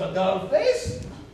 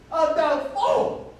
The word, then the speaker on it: Adolfo: Not Adolphus. Adolfo.